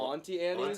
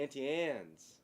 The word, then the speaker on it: Auntie Anne's: You're saying Annie. It's just Ann. Auntie Anne's.